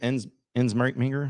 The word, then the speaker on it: Ensminger: Soggy says, you could have Steve Ensminger.